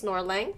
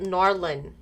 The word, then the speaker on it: Norlin: So first one is Norlang. Sorry, I meant Norlin. I keep seeing the C, so I want to pronounce that.